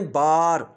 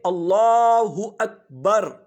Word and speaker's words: اللہ اکبر: یہ دوسری غلطی ہوئی۔ تیسری غلطی بر ہے، لوگ پڑھ رہے ہوتے ہیں بار، اللہ اکبر اللہ اکبر، جبکہ درست تلفظ ہے اللہ اکبر۔ اقامت میں بھی اللہ اکبر اللہ اکبر، لوگ کہہ رہے ہوتے ہیں اللہ اکبر اللہ اکبر، یہ غلط ہے، با کو کھینچنا نہیں ہے۔ چوتھی غلطی، اشہدو، لفظ